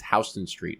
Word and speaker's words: Houston Street: Doesn't make any fucking sense, but it's Houston Street. But it's spelled like Houston.